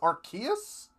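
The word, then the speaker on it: Arceus: sample for for that so it's archus I always thought it was arus allow me to introduce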